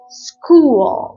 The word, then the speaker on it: school: كمان في السي اتش بنطقها ك، وده سؤالك، زي كلمة سكول school.